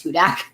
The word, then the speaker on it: Hudak: A lot of people don't know how to pronounce it, and that's why I have it in my bio. Yeah, it is Hudak.